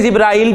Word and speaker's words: जिब्रील: जिब्रील, कुरान में जिब्रील का है और हदीस में जिब्राइल भी आया है, दोनों तरह ठीक है। ठीक है, कुरान में जिब्रील आया है तो जिब्रीलू, जिब्रीला, जिब्रीला।